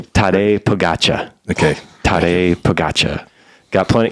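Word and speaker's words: Tadej Pogačar: Would you please pronounce the name? Tade Pagatcha.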